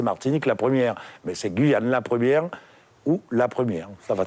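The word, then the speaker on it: Guyane La 1ère: on parlait de guyane 1ère jusqu'ici on entend guyane la première ou la première à quoi se fier aujourd'hui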